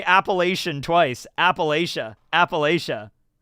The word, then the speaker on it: Appalachia: Appalachia. You want me to say Appalachian, but I've never pronounced it Appalachian in my entire life. I've always said Appalachia.